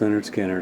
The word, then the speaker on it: Lynyrd Skynyrd: confederate flag across the stage and of course pronounced leonard skinner that just came out or just coming out